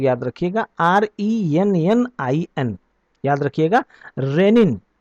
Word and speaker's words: rennin: दोनों का प्रोनाउंसिएशन जो है वो सेम है, लेकिन इसकी स्पेलिंग अलग है और उसकी स्पेलिंग अलग है।